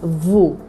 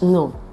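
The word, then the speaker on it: ν: Here, a common mistake is to say the small case letter nu as vu, because it looks like the V in English, but it's pronounced as nu.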